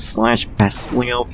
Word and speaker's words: Slash Beastleo: His Japanese name, by the way, is Slash Beastleo, but it's pronounced as Slash Bestleo for some reason.